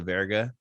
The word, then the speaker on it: verga: sounded remotely close to Verga, you know, or Verga, like you're supposed to say it, but you gotta roll your R's.